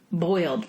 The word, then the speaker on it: boiled: And you pronounced the actual end of the word boiled, but sometimes you might even hear it just called bowl peanuts. Oh, absolutely. You drop the ED, like a silent bowl peanuts.